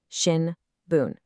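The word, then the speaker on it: 新聞: In English we hear two syllables, two beats. Shin boon. But in Japanese that's four mora, four equal beats.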